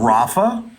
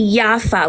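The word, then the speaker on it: Jaffa: partition plan talking about Rafa yafa no no you're you're you're just using over pronunciation you're about ra no y not RAF I'm talking about yafa which used to be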